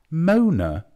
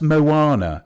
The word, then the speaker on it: Moana: what's that one called Mona Mona oh M OA it's pronounced Moana okay so you've embarrassed